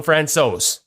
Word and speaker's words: Francouz: I'm sort of the Don Cherry of the group, but I'm told I got this one right. So we're going Francouz. So if Francouz is as close as he's heard, what is the actual pronunciation?